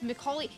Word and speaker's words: Macaulay: It's Macaulay. See, you can write it out phonetically, and I will still struggle to say his name.